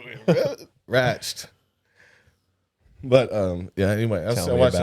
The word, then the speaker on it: Ratched: Yeah, Ratched. No, it's Ratchet. I didn't like pronouncing it like that.